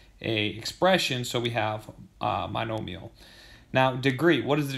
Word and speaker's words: monomial: This is what you call a monomial. Monomial is probably how most people pronounce it, okay? But the phonetical way is monomial, okay?